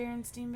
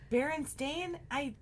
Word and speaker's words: Berenstain: But Berenstain, it's not how well, it's still pronounced Steen either way.